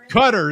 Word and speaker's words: Qatar: I forget how they were pronouncing it now. Cutter. That's right. Yeah. I'm Cutter.